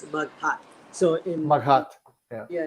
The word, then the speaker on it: Maghat: Yeah, so it's Maghat. So in Maghat. Yeah. Yeah, in Filipino, the emphasis is on the second syllable or every other syllable.